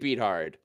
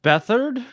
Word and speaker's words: Beathard: CJ Beathard. That's the guy they're talking to. I Right believe now. it's pronounced Bethard.